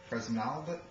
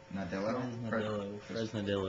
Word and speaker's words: Fresnadillo: Juan Carlos Fresnalda? How do you pronounce that? Juan Carlos Fresnadillo? Fresnadillo. Juan Carlos Fresnadillo dropped out, Looks like he did 28 Days Later and Intact.